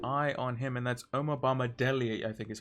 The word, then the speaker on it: Omobamidele: So we have to keep an eye on him, and that's Omobamidele, I think is how you pronounce his name.